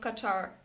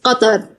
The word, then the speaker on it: Qatar: I found what is the right pronunciation of Qatar. How to pronounce it is more right, because The way His Highness pronounced it, and everyone in the right way, is Qatar. Qatar. Qa, qa, from the back.